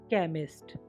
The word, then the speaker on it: chemist: अब CH क का बन जाता है। CHEMIST केमिस्ट रसायन यज्ञ।